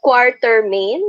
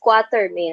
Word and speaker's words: Quatermain: in the books, it's Quatermain actually. When you're British kasi, you say it either way, Quatermain. Quartermain. So, yeah, so the R is silent either way, pero it is Quatermain in terms of spelling.